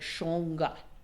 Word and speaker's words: shangha: was the word shangha which is actually pronounced more like shonga but shanka the way